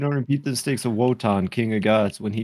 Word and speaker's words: Wotan: Wotan is pronounced Wotan.